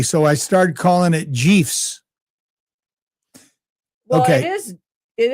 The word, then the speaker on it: GIF: No, the guy who created GIFs, which we all thought it was GIFs because nobody knew how to say it, right? And then they interviewed him and he said, "Well, to be truthful. It's the G is soft like the peanut butter. It's GIFs."